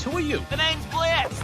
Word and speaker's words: Blitz: The name's Blitz, the O is silent, and I'll be your assassin today.